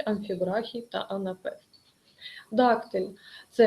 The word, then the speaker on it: амфібрахій: з наголосом на першому у слові амфібрахій наголос всередині слова ви бачите це підкреслено